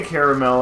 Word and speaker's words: caramel: Or is it I say caramel actually because that's the letters. Like caramel is missing. Like it's Carmelio? It is spelled C-A-R-A-M-E-L. Caramel. Yeah. Okay. So caramel is to lose an A.